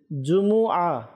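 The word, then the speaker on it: جمعة: আজকে একটু জেনে নেই জুমু জিমের উপরে পেশ মিমের উপরে পেশ আইনের উপরে জবর তো জুমু তো আল্লাহতালা আমাদেরকে সঠিক ভাবে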